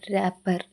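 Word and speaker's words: wrapper: ಇಲ್ಲಿ G silent ಆಗಿದೆ ಡಬ್ಲ್ಯೂ ಆರ್ಎ ಪಿಪಿ ಇ ಆರ್ ರಾಪರ್ ಇಲ್ಲಿ ಡಬ್ಲ್ಯೂ ಸೈಲೆಂಟ್ ಆಗಿದೆ ಡಬ್ಲ್ಯೂ ಇಡಿಎನ್ಇ ಎಸ್ ಡೇ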